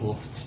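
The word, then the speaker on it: OOPs: को हम कहते हैं ऊप्स, ठीक है, शॉर्टकट जो हम उसका वो प्रोनाउंस करते हैं उसको हम ऊप्स कहते हैं।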